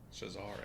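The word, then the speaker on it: Cesare: say this fellow's name I'm calling him Caesar that's wrong Cesar Cesar that's always the way I well you're probably right I defer to your judgment on that but that's the scene where cesari predicts Allen's death that's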